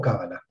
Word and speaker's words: cábala: la cábala o cábala Cómo se pronuncia es lo mismo es indistinto se puede decir calá o cábala Okay pero Eh bueno